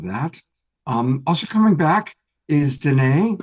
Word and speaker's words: Danae: Also coming back is Danae, which reminds me that it rhymes with Renee.